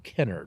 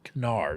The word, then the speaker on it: Kennard: At this same time, there's a man in Chestertown, Maryland named Charles Kennard, or Kennard. I say Kennard. The family even disagrees on its pronunciation.